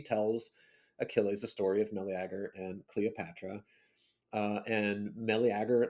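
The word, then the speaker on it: Meleager: I think I would say Melagger. Yeah, it's I just try to hit all the all the letters the syllables whatever.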